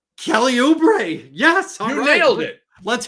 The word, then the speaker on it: Oubre: guys on my team is it Kelly oubre yes you nailed it Kelly oubre yes you nailed it